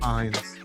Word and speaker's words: Fiennes: It's It is we Ralph could Fiennes.